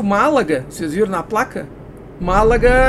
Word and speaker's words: Málaga: Málaga a gente pronuncia como uma proparoxítona, só que no entanto em espanhol não tem acento.